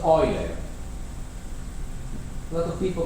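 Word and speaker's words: Euler: know how you pronounce pronounce this one in his language was Oiler lot of people call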